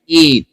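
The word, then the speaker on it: eight: जैसे ई आई जी एच टी, एट, एट.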